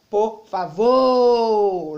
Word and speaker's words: por favor: é a sílaba tônica ficaria por favor lembre que o vô sai mais forte certo a lei a palavra por favor você vai observar que a sílaba tônica é a última é uma palavra oxítona certo a sílaba pronunciada